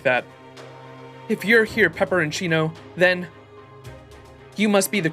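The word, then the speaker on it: Peperoncino: of you I like that if you're here pepperoncino then you must be the Cryptor in charge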